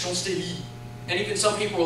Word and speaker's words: Champs-Élysées: amounts of lamplight, and I pronounced it Champs-Élysées with the S, and I had 50 to 100 comments saying, "There's no S, it's Champs-Élysées," and even some people were like, "There's no day, it's like Champs-Élysées."